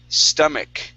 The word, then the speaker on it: stomach: Next, we have the word stomach. Okay, the CH here creates a K sound. Stomach. Stomach. Okay, one more time. Stomach. Now, that A is going to sound like a short I sound.